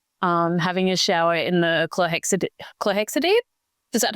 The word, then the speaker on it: chlorhexidine: going to Monash, having a shower in the chlorhexidine. Is that how you say it? Yeah, chlorhexidine.